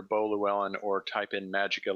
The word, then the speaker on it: Magicae: It's Magica is spelled Magicae. It's the Latin version, so it sounds cool, but marketing wise, people are like, "What do I type in?"